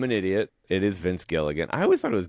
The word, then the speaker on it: Gilligan: But Vince Gilliam, not Gilligan, by the way, the director's name, Yeah. Gilliam. Well, there's Terry Gilliam. Am I saying it wrong? Yeah. I thought it was the TV creator of Breaking Bad is Vince Gilligan.